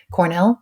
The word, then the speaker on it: Cornell: little weird it's ra AI Cornell like the university and if you are